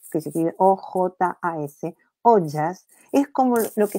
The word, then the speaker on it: ojas: se describe en la Ayurveda que se llama ojas, que se escribe O-J-A-S, ojas, es como lo que sería para nuestra comprensión, las defensas.